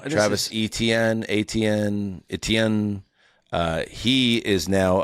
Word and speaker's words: Etienne: Travis So growing up it was Travis Etienne. So it would be like A C H A N E.